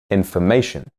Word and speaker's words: information: And in information, the syllables before and after the stressed syllable reduce to schwas. Information.